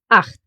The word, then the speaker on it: acht: But if it pairs with his friend, the letter C, it will make a sound, exactly like here, acht. The letter combo C and H will actually get pronounced in two different ways.